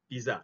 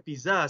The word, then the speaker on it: pizza: Tetapi bukan pizza sebenarnya, tuan-tuan. You have to pronounce this slightly different. This word or this food is pronounced as pizza. Pizza. Bukan pizza. Pizza. Dia ada bunyi teh sikit.